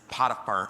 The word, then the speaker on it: Potiphar: But the pronunciation will be up on the screen in a minute, and basically, it's Potiphar. That's how you say it.